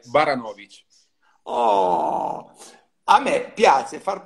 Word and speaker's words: Baranowicz: La pronuncia giusta è Baranovic.